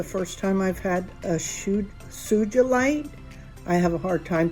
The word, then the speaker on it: sugilite: I have a hard time pronouncing that because I want to say SUGILITE because that's kind of how it's spelled, but it's not. It's see, I'm at it again. SUGILITE, and it's a real deep purple.